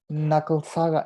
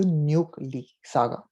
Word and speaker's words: Nucle Saga: Okay, it is not pronounced Nucle Saga. It does not rhyme with the word with knuckles. The word actually has been derived from the keyword nucleus, and the pronunciation that